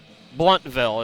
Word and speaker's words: Blountville: South Carolina Blountville Blountville bluntville is how they pronounce it so it's bluntville Tennessee